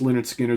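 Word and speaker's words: Lynyrd Skynyrd: of course we've got pronounced Leonard Skinner the debut double platinum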